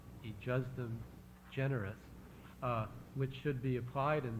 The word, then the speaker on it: ejusdem generis: Then there's also a discussion, well, there's some principles of statutory interpretation, which I believe is pronounced ejusdem generis, which should be applied in this case.